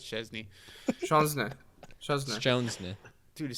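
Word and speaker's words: Szczęsny: Why did you have He to say it like Shenzna. that, man? Yeah. Szczesny. How do you pronounce that Because guy's name?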